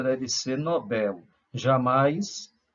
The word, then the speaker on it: Nobel: a pronúncia correta é Nobel como a palavra não tem acento não tem assunto algum isso nos dias que a sua sílaba tônica é Bel portanto a pronúncia deve ser Nobel jamais Nobel Ah e quem foi